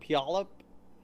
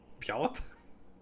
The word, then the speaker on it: Puyallup: It's a Puyallup. Puyallup? Yeah, Puyallup. It sounds like something, the sound you make falling into a puddle.